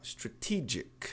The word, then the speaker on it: strategic: A tônica é a sílaba do TE. Então, se ela é atônica, não mexa nela. Olha lá, strategic.